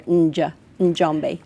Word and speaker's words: Njambe: Well, And so, and it's maybe difficult to pronounce, but in Swahili there are often two consonants together, Njambe, yeah.